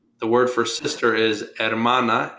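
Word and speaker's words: hermana: sister and brother the word for sister is ermana h e r m a n AA type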